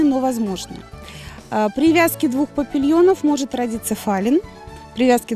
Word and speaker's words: папильон: Название папильон, если правильно произносить, это папильон, это французское произношение, но при переводе через транскрипции получается папильон, и мы называем, ну, кто как называет, но в принципе называют папильон.